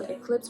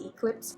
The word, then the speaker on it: Eclipse: It's not pronounced the normal Eclipse way, it's pronounced Eclipse.